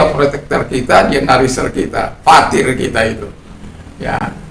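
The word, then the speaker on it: πατήρ: Ya, yang sering disebut pater. Tapi dalam bahasa pronunciation yang Greek, modern Greek itu patir. Jadi epsilon sama ita itu bacanya beda. Epsilon ita itu kita baca i.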